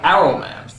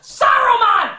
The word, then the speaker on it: Saruman: It's pronounced Saruman! The S isn't silent!